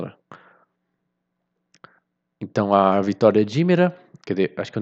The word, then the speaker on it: Hímera: Primeiro eu achava que era Rimera, mas em português se escreve com um acento no i, né? Então, Hímera, né? Ou Hímera.